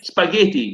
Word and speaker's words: spaghetti: But it's an Italian word. We have double consonants, and we say them as one. So just like little is one T. Like spaghetti, no? Spaghetti. Yeah, spaghetti in Italian, because an Italian word, spaghetti. Double T.